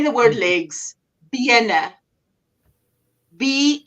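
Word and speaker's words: bene: say the word legs BNA be e n e so there's only one n because you want the first e to be B it's legs but if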